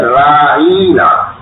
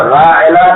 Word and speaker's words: راعنا: سامنے کہا کرتے تھے راعینا، یعنی عین کو ذرا کھینچ دیا کرتے تھے، اور ایسا محسوس ہوتا تھا کہ جیسے عین اور نون کے درمیان یا کا بھی تلفظ کر رہے ہیں۔ اب راعنا کے تو معنی ہے